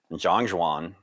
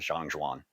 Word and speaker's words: Zhan Zhuang: But anyway, as we get into today's focus, Zhan Zhuang, or Zhan Zhuang, like everything we do here, everybody's different, including even that pronunciation. I've seen or heard both sides of the coin from all sorts of different people, including Chinese speakers. So we're sticking with Zhan Zhuang.